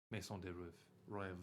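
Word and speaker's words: Maison de Rêve: Maison de Rev. Rev. Like you rev your engine. I know, I'm bad at saying French words.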